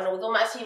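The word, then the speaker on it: 望ましい: Tiki 652 chúng ta để với từ nozomashi các bạn ơi, nó vẫn là chữ vọng nhá, nhưng nó sẽ đọc là nozomashi và nó mang ý nghĩa là gì?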